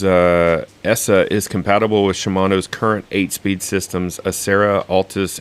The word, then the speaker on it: Shimano: ask at this table what is the proper pronunciation is it Shimano or Shimano um it's sh Sho it is Shimano okay and I feel bad for not remembering